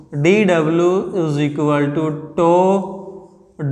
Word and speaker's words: tau: This letter is called tau. इसको हम बोलते हैं TAU and it is pronounced as tau और tau, जैसे भी आपको लगे tau, राइट।